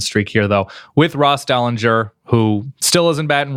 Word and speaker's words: Dellenger: we are now joined by Sports Illustrated's Ross Dellinger I'm sorry I only reads your name I don't know how to pronounce it if I'm pronouncing it correctly is